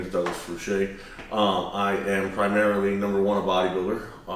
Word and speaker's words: Fruchey: Fruchey. That's how you say it? Fruchey, yeah. Oh, damn, this whole time, in all the years I've known you, I thought it was Fruchey or Fruchey.